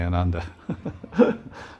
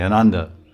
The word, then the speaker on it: Ananda: Westerners say Ananda. A is silent. We say Ananda.